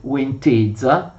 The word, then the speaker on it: Łęczyca: Viene nominato uno starosta per ognuna delle 4 province della Grande Polonia, che sono Łęczyca, si scrive così ma si legge Łęczyca, Sieradz, Inowłocław e Brest-Kujawski.